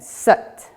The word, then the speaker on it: Sat: Now when we're doing it, the Sat kind of comes out like but. So as in Sat.